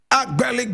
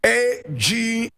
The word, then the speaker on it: Agbeli: Agbeli Gbedemah. And I spell, Komla is spelled K-O-M-L-A.